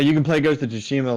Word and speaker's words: Tsushima: I say I'm very American because I say Tsushima and it's actually pronounced Tsushima. I'm just there's a T in it, so like my dumb American brain just wants to fucking pronounce that T.